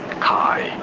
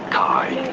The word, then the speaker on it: chi: So in English, this is generally said and referred to as Kai. Kai.